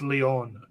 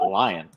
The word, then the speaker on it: Leon: i just checked it is pronounced leon for that as well i've always been pronouncing it lion now the joe the